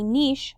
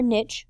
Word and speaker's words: niche: where an organism lives a niche or niche both pronunciations are acceptable is the role or